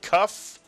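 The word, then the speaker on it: כּ: With a dagesh, it is pronounced as a K, a kaf.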